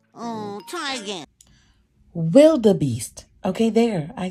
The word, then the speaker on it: wildebeest: Wildebeest. Okay, there, I said it. Wildebeest, all right?